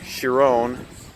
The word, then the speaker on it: Chiron: a bugatti chiron or Chiron however you want to pronounce it I know Doug de Muro pronounces it your own I say Chiron and I've also seen